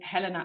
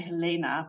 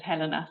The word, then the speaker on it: Helena: yes so I'm going to speak about um Helena I'm pronouncing her Helena I know a lot of British people say Helena but in Germany one says Helena so that's what I'm going to do um